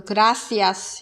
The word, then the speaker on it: gracias: 데다가 뭐 예를 들어서 단어 끝에 있는 S 발음 같은 거 이런 거 안 하는 경우가 더 많은 것 같아요. 예를 들어서 gracias 이런 표현 gracia 뭐 그냥 이렇게 하고 흘려요.